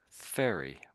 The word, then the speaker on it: ferry: So furry. My cat's very furry. And ferry or a boat. A ferry.